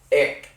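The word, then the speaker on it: एक: Ik. Which is spelled E-K. Ik means one.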